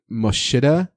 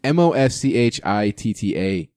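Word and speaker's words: Moschitta: I might butcher this John mashita mashita you probably butchered it mo Shanna it's mo SCH ITT a junior he was actually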